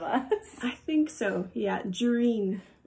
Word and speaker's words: Jahrine: Yeah, Jareen was the the pronunciation. It's a Canadian thing, I think.